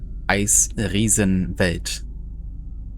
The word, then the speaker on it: Eisriesenwelt: Eisressenwelt caverns. So that's a German word, actually. And it's pronounced Eisriesenwelt.